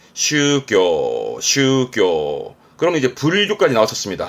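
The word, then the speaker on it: 宗教: 발음은 슈교, 슈교.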